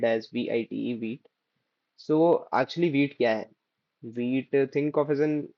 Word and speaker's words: Vite: So actually instead of we will be using a beat which is spelled as vit. So actually wheat wheat think of as an like I have opened this uh documentation for the wheat.